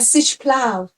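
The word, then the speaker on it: si us plau: Uh, sish plow.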